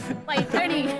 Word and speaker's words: पैठणी: क्या डिफरशिएशन है हम आपको प्रैक्टिकली समझाएंगे सर चलो असलोनी पैठणी वो जरा प्रोनाउंसिएशन इनका चेक कर दीजिए पैठणी पियूष पिय it's like from the apical lotus